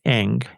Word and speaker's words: Ng: I would suggest starting with Eng.